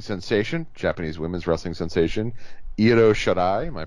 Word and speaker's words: Io Shirai: Um, Speaking of people coming to WWE, Japanese wrestling sensation, Japanese women's wrestling sensation, Io Shirai. Am I pronouncing that correctly? Yep, Io Shirai.